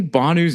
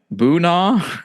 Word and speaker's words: Bhanu: Like early on in the episode, did Q say Bhanu's name right? I'm pretty sure he said it wrong twice in a row in a testimonial. I think he's called him like Boona.